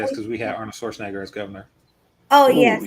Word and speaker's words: Schwarzenegger: The reason why I said it is because we had Arnold Schwarzenegger as governor.